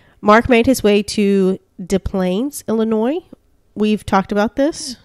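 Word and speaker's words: Des Plaines: de Mo yeah so maybe it's de plain I don't know that's my guess that would be my guess just based on De Mo the SS silent this is our silent get those s's out of here we don't want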